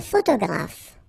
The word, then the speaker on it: photographe: So here, PH, and here, PH, pronounce it like F, F, F, F.